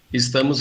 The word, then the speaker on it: estamos: In this word, you can hear the difference in the S sounds, sh in European Portuguese and s in Brazilian Portuguese.